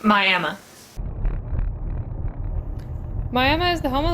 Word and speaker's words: Miami: It's spelled the same as Miami, the city in Florida, but this Oklahoma town is pronounced Miami.